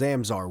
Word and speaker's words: Zamzar: Okay, it's called Zamzar. It's spelled Zamzar.